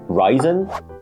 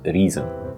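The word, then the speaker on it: Reisen: tasty we have reason which I used to call ryen when I didn't understand any German but apparently the correct way to pronounce this is reason but you got to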